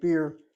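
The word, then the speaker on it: באר: I drink beer in the capital. What's Beer Shiva? Be'er Sheva? Yeah. Okay, Be'er already sounds interesting, but the word Be'er is spelled with an aleph like this. Be'er means a well.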